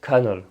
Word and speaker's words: colonel: mots qu'on lira Carnel en fait ça se prononce Carnel les deux mots s'écrivent de manière très différente et se prononcent de la même manière et en plus ça se pense pas du tout colonal ou quelque chose comme ça c'est bien colal ou même des mots